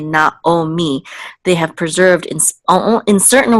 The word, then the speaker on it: Naomi: They always say kol Yisrael, because for that specific word and others, like Naomi, they don't say Naami, they say Naomi.